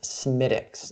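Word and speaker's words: Smithwick's: Patrick's Day so ghost medics and yes it's pronounced Semitic all right so all right you know I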